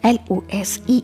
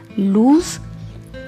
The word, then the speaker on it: lose: Like L-O-S-E is pronounced as lose. Here letter S has Z sound, lose.